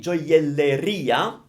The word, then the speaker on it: gioielleria: Gioielleria. Because all shops end with ia in Italian. I mean, like pizzeria, gelateria, think of that. So, gioielleria. That's how you say it.